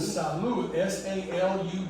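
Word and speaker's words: salud: Very similar, but sal u d with an accent over the u. It means health. Someone sneezes, you say health. Sal u. How you spell it again? And make sure you put the accent mark. S A L U D. It's rule number three because it has a written accent mark.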